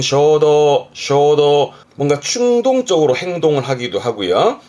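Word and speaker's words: 衝動: 뒷글자가 지난번에 했던 동자, 이게 충동이라 발음은 쇼도, 뭔가 충동적으로 행동을 하기도 하고요.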